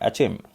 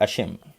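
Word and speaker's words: Achim: तो United nation development programme, जो इसका हेडक्वार्टर कहाँ मिलेगा, न्यूयॉर्क, और जिसके एडमिनिस्ट्रेटर हैं अचिम और अशिम, किसी भी तरह से इसको प्रोनाउंस कर सकते हो।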